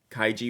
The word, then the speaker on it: Kaigi: there's a couple links kaiji with a hard G like in girl didn't I say is